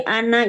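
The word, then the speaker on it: أنا: Ini aja tadi ana itu dibaca pendek ya.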